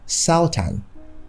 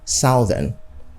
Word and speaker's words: southern: is southern southern energy in English you hear saltan or southern but in standard English the pronunciation is simply southern so you say the